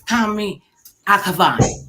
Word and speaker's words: Kamy Akhavan: Hey, this handsome fella is Kamy Akhavan.